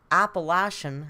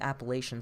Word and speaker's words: Appalachian: drove all through the appalachian apparently that's the right pronunciation i still think appellation sounds better but we drove through the